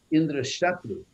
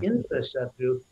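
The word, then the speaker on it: Indraśatru: He did is he just misplaced the accent. He said Indra Shatru, which means Indra will be the mortal enemy and kill this creature that I'm creating.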